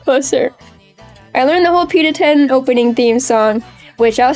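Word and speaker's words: Pita-Ten: PETA 10. Like pita bread and the number 10.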